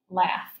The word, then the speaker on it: laugh: are we're gonna be working with the F sound at the end of the word but it's spelled with a GH so when we do